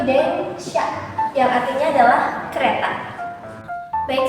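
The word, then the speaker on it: 電車: Onyominya dia itu sha ya, dan di sini dia ditemani oleh kanji deng, makanya dia dibacanya itu deng sha, yang artinya adalah kereta.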